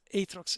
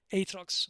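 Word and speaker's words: Aatrox: you play Atrox, but Atrox, and sorry, Atrox is in Italian. Atrox, I I pronounced it the Italian way, but Atrox has transition animations.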